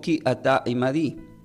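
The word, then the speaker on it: כי אתה עמדי: Y esta palabra del hebreo, porque tú estarás conmigo, se pronuncia como Ki ata imadi.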